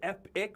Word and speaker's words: Epoch: this yesterday we're like is it the Epic do we do we do it epic with an I see or do we call it well it depends on how you spell it you know I I've been doing Epoch for a very long time and then I heard Kevin say epic I thought it Park